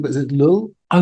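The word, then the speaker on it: Llull: So this is I don't know how you pronounce his name but is it lull? Oh yeah Raymon lull medieval theologian.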